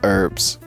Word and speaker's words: herbs: herbs herbs see so we don't pronounce the h and you guys pronounce the h so there's herbs and herbs herbs I